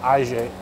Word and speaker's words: IJE: I'm reliably informed by the guy on the gate that it's pronounced IJE.